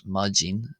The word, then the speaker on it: maidin: accent uh the word for morning there is pronounced as majin in golster even though it's spelled majin.